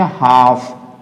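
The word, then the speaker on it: half: Match खा रहा है, तो यहाँ पे भी हम एल को प्रोनाउंसिएट नहीं करेंगे, इसे क्या बोलेंगे, हाफ, क्या बोलेंगे, हाफ बोलेंगे इसको, यानी कि हम एल को यूज नहीं करेंगे प्रोनाउंसिएट करते समय।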